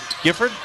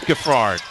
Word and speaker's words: Gaard: ask about pronunciations and when I say the name gford I got the nod yes but apparently it is gaard so my apologies Clyde